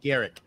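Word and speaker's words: Gierich: It's G-I-E-R-I-C-H. Garrick. I think. Garrick, yeah.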